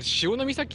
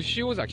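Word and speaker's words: 潮岬: な、え、あれ潮の岬って読むの、潮崎とかではない。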